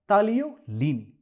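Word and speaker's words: tagliolini: इसी से जुड़ा है इटालियन पास्ता तालियोलीनी। यहां पर भी जी साइलेंट है, तो आप ऑर्डर करेंगे पास्ता तालियोलीनी।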